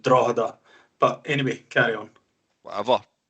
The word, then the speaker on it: Drogheda: End, Norwich on loan, Hearts, Coventry, Carlisle, Shelbourne, Drogheda, and then Morpeth United. As I used to have a flat there, and I didn't want to get battered off the ultras for this. It's pronounced Drogheda.